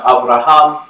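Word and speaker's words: אברהם: tradition the Abrahamic faith traditions Oh Abraham is pronounced Avraham and Hebrew it literally means father of many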